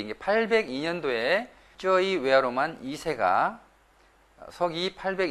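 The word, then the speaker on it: ជ័យវរ្ម័ន: 그이 저희 외야로 마늘 자야바르만 이렇게 바로 하는데 자야바르만 이 아니라 저희 외화로 만 이렇게 발음하는 것이 좋을 것 같습니다 관광 분야에 종사하시는 분들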